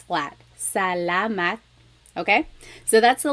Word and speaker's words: salamat: So let's practice saying salamat, salamat, salamat. It's not salamat and it's not salamat. It's really just like in the middle. It's flat. Salamat.